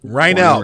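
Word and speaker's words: Reinoehl: Rynell, that's how you say his name. Rynell. Now I know how to say it. For all of you who are looking to be able to say his name later in the day, Lord's the night, it's Rynell. Portland, Oregon, 48 years old.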